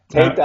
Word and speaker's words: Teta: We actually pronounce it Teta, but Teta, I think, is the best way to pronounce it for the real Italian enunciation.